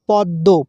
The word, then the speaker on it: পদ্ম: উচ্চারণ হবে পদ্য। পদম হবে না। পদ্য। ম ফলার জন্যে দটা ডবল ধরতে হবে।